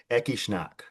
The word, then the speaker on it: Ecce Shnak: David Roush of the incredible Ekishnack. Am I pronouncing all that correctly?